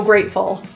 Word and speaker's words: grateful: In this word, the T is pronounced as a glottal T.